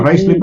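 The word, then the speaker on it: Ruislip: Ruslip. Ano pa? Rice-lip ba? Rice-lip? Or Yeah. How do you pronounce it? Rice-lip, Rice-lip ba? Rice-lip? Yes, South Rice-lip. no? Actually, I used to go. I have friends in Rice-lip, so I know Rice-lip.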